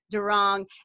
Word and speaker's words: Doiron: the spelling of it it's a French name but in English it's pronounced during and I am